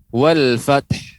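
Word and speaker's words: والفتح: Dia tidak dihidupkan wal fath, enggak. Wal fath. Jadi dia tidak bersuara.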